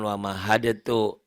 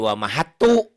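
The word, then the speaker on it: وَمَهَّدْتُ: Bukan wa mahadatu. Kandalnya jadi hilang. Huruf mati Kan ketemu langsung huruf bertasdid. ketek. Iya jadi wa mahatu. Dalnya hilang.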